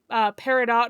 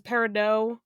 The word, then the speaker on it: Peridot: I mean, I know I've heard there's controversy about Peridot versus Peridot. Excuse the fuck me. There is a T at the end of that name.